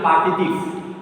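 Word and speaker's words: partitifs: Then how will you pronounce this word? Yeah. 1, 2. P-A-R-T-E-T-E-F-S. F-S. Okay. P-A-R-T-E-T-E-F-S. Partitive. So tell loudly. Partitive. Partitive. This will be silent.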